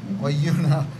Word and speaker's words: Oyuna: By the way, that Oyuna, I'm saying it right. Is it? Oyuna. Oyuna. Yeah. Oyuna.